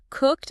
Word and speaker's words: cooked: Cooked ends with a hard K and D sounds slammed together. Cooked. Yeah, it is never pronounced with two syllables like cooked.